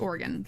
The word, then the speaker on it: Oregon: Like you don't pronounce the e, it's just Oregon.